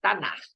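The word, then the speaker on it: Tanakh: Então, esse Tanar, que se pronuncia assim mesmo, Tanar, ele, na verdade, é uma sigla.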